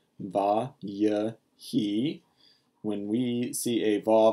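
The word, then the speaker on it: וַיְהִי: see it V he this is pronounced with three syllables VA y he when we see a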